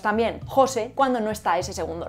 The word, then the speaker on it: José: En todos los casos, José es una palabra átona, porque se apoya en el segundo nombre y la sílaba más fuerte pasa a ser la primera.